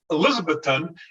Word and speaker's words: Elizabethton: minnesota to elizabethton tennessee now it's not elizabeth elizabethton it's elizabethton and the locals will tell you that's how you pronounce it you know this and